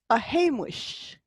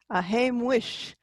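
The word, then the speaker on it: a Shéamais: Seamus becomes a Hamish. A Hamish, because look at that S. That S is sitting next to a slender I. So instead of sitting next to the broad U in the original form, it's going to be slenderized into a Hamish.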